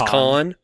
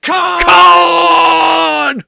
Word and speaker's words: Khan: You should go back and actually watch the original one that introduces Montabon as uh as Khan from the TV series. You're saying it wrong. It's Con.